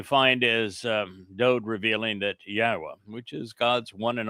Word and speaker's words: Yahweh: So it is Yahweh and the beloved son writes, "Yahwah reigns by guiding Malc as king in charge